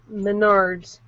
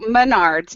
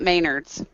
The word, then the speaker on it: Menards: for a dollar wow please tell Chris it's pronounced Menards I grew up shopping at the original store oh so Menards not Maynards yeah I like Maynards Menard like mayor G